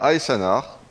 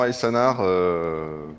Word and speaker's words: Aesanar: Alors, Aessanar, Esanar, comment je suis censé prononcer ton pseudo ? Et ben, Aanar, bonjour S baguette. Et oui, c'est effectivement Aanar, bah de du fluffelf, donc descendant de Alitanar, le roi fantôme.